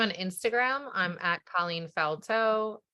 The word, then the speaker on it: Faltot: I'm at Colleen Faltot. There's a T on the end of it. The last T is silent, Faltot.